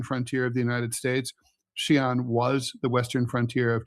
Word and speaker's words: Xi'an: So, it it says no, it says X I A N.